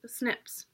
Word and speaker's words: SNPs: to be replaced by snps which are pronounced snips now you may be